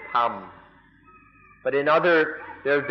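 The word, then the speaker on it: ธรรม: In Thai, they don't even try. They just pronounce it Tham.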